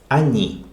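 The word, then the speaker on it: они: as you plural okay they ani e stressed so o is pronounced ah that's it these are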